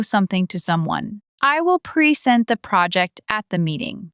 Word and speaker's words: present: When you stress the second syllable, present, it's a verb. It means to give or show something to someone. I will present the project at the meeting.